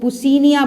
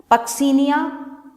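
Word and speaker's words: Puccinia: rust caused by पक्सीनिया, कुछ लोग इसको पुसीनिया बोलते हैं, आप लोग स्पेलिंग सही लिखिए, इट्स पक्सीनिया ग्रामिनिस ट्रिटिसाई, ग्रामिनिस ट्रिटिसाई,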